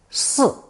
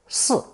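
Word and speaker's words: 巳: it's swallowed in cloth this rare character is pronounced fourth tone s s and is used almost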